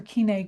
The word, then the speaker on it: Koine: on biblical studies and Koine or Koiné Greek depending on your pronunciation.